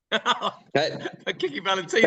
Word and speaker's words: Kickin Valentina: Kickin Valentina. Fantastic.